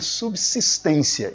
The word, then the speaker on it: subsistência: Sempre que houver o prefixo sub, a letra S seguinte terá o som de C, né, o som de dois S, como queira, e nunca o som de Z.